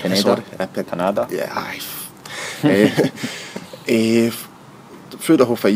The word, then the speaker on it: Pineda: Let's talk about the fight with Daniel Pineda. That's how you pronounce his name. Pineda.